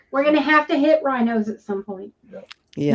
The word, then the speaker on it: Rhinos: We're gonna have to hit rhinos at some point. Yeah. Rhinos, not Ryans, right? Yeah, rhinos, RHINO. Yeah, I think it's Do a they do Shell other station.